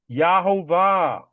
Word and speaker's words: Yahovah: Again, there's no J sound in the Hebrew language. Never was, never will be. Yahovah.